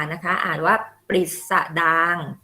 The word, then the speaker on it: ปฤษฎางค์: ทำ นี้ Pop R นะ คะ อ่าน ว่า ปฤษฎางค์ ปฤษฎางค์ เป็น คำ ราชาศัพท์ แต่ ว่า หลัง นะ คะ